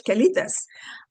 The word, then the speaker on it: quelites: All right, now there's a thing called quelites, and that's how you say it in Spanish, quelites.